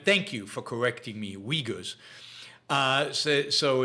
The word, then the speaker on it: Uyghurs: you for correcting me uyghurs uh so so it's not oogas it's uyghurs you don't pronounce the u i guess u y g h